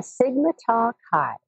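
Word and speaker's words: Sigma Tau Chi: role um described correctly did I pronounce that correctly uh Sigma talk Kai yes yeah we have two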